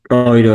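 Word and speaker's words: Euro: এর মতো উচ্চারণ হবে অই। যেমন অয়রো। ওইরো, হ্যাঁ ঠিক ওরা কি আছে। অয়রো বলে না ইউরো বলে?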